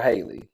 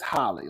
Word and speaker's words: Halle: never pronounce her name I've always called her Haley it's Holly like Holly Berry right Holly Bailey now